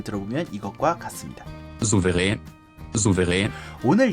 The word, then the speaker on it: Souverän: 표기는 소베렌으로 하고 있고요. umlaut 아가 들어갔기 때문에 에 발음이 추가돼서 렌으로 읽는 게 맞아요. 최소한 소버렌으로 불러야 하는 것이 표기상 중요한 일이고요. 네이버 전자사전에서 발음을 들어보면 이것과 같습니다. Souverän.